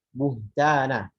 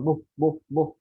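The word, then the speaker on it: بهتانا: Jelaskan haknya, jangan rokhwahnya. Buhtana. Rokhwah itu ngalir ya maksudnya. Kalau mungkin yang belum paham istilah tajwidnya, rokhwah itu mengalir suaranya. Jadi buhtana. Buhtana. Jangan buh. Nah, jangan seperti syiddah. Kalau tertekan suaranya.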